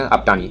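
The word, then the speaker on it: Apatani: नीसी, अडी, गालो एंड अपटानी कुछ नाम है इसका प्रोनाउंसिएशन, अपटानी।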